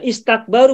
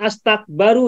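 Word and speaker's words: استكبروا: Nah, istakbaru bukan astakbaru ya. Tahu kan ini maka alifnya kasrah kan? Istakbaru. Ini mazid tambahan berapa huruf?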